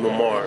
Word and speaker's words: Memar: How do you pronounce that? Memar.